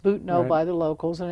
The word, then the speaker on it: Butano: It looks like Butano, but it's pronounced Butano by the locals, and it's just outside of Pescadero.